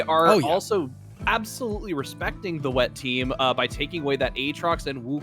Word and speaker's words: Wet Team: On the blue side, we have Team Wet Team. They really wanted us to make sure that they are pronounced Wet Team, not Team Wet.